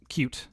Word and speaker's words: Qt: And I think it's pronounced cute is how I think.